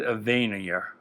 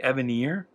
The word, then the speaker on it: Evanier: But I've always pronounced it Evanier, as in he is more vain than you, Evanier.